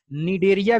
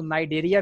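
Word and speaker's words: Cnidaria: Coelenterata को जो है हम लोग निडेरिया भी बोल सकते हैं, हालांकि उसको नाइडेरिया भी कुछ लोग पढ़ते हैं। तो आप जो भी पढ़ रहे हो सही है, उसमें जो है आपका सी साइलेंट रहता है।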